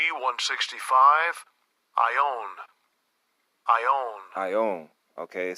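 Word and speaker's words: αἰών: That word world is eon. All right, I'm going to pronounce it. Strong's G 165. Ion.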